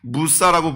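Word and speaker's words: موسى: 지금도 이집트나 아랍에서는 모세를 모세라고 부르지 않고 무사라고 부르더라고요. 무사.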